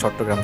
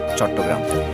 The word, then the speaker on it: চট্টগ্রাম: এই নামটি গ্রহণ করেন ছাটিগাঁও এর সংস্কৃত উচ্চারণ চট্টগ্রাম এছাড়া চট্টগ্রামের প্রায় 48